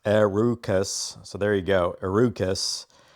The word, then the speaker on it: Herucus: Herokus, pronounced Arukus.